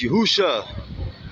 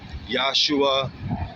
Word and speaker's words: Yahusha: His real name is Yahusha. Some will say Yahawashah, some will say Yahshua, Yehoshua, Yeshua. I say Yahusha.